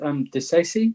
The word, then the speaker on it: Disasi: So I think it's pronounced Disasi, but I think we should call him Axel.